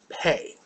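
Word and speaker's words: פ: Pay. With the dot, you got a straight P sound beginning of a word or a syllable. Remember, that dot only comes at the beginning of a word or a syllable. Without it, it's pronounced like an F.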